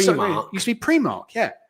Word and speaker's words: Primark: How do you pronounce the store that sells really cheap clothes that goes Primark? It's Primark.